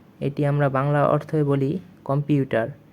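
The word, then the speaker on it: компьютер: আমাদের 15 নং ওয়ার্ডটি হচ্ছে কম্পিউটর। কম্পিউটর এটি আমরা বাংলা অর্থে বলি কম্পিউটার, বা ইংলিশেও কম্পিউটারই বলা হয়, যা রাশিয়ান উচ্চারণটি একটু ভিন্ন, যা হচ্ছে কম্পিউটর।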